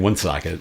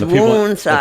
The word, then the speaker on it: Woonsocket: I think we actually pronounce it wrong by saying Woonsocket. Yeah, it's Woonsocket. The people in South Dakota, they pronounce it correctly. Woonsocket, yeah.